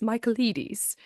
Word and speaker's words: Michaelides: It's spelled in a very Greek way. His name is Alex Michaelides. And I know this because I listened to him say, "Hi, I'm Alex Michaelides," in a little video like 3 times to